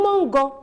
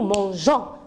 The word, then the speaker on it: mangeons: je laisse comme ça le mot je vais lire nous mango et moi j'ai besoin de dire nous mangeons donc g1 g2 vaux